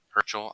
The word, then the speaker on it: Herschel: Herschel, I think, is actually how you pronounce it.